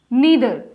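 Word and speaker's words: neither: ईदर, नीदर। अब कोई जो होते हैं इनको आइदर और नाइदर भी बोलते हैं। दोनों ही प्रोनाउंसिएशन सही होती है क्योंकि ब्रिटिश और अमेरिकन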